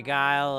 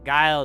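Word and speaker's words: geil: Use a thumbs up and stay guile.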